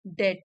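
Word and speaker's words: debt: यह उधार चुकाना that डे डी ई बी टी में बी साइलेंट है डे मींस कर्ज यह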